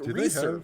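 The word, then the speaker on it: Risur: me very happy like research rhymes with fleecer yeah i was wondering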